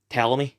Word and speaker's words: Ptolemy: for breaking those statues at the time I pronounced it as po like if the T and the O were swapped around uh then I thought maybe it's pronounced balam but everyone in the show just pronounces it tell me like silent P which that probably was